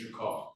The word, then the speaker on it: Drinkard: State versus, is it pronounced Drinkard? Yes, sir. Or Drinkard? It's Drinkard. Drinkard.